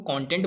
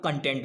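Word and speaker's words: content: दो तरीके से इसका प्रोनाउंसिएशन होता है, एक तो हम कंटेंट बोलते हैं और एक हम कंटेंट बोलते हैं। दोनों दो प्रकार से प्रोनाउंसिएशन किया जाता है, लेकिन बट स्पेलिंग इसकी सेम ही रहती है।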